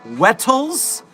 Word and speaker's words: Wettles: It's spelled and pronounced Wettles. Wettles. But it's so funny to call him Whittle.